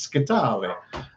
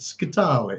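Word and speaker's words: Scytale: It's Scitale. So overemphasize the last consonant, Scitale.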